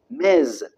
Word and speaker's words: Ms.: Ms. Note the pronunciation, Z.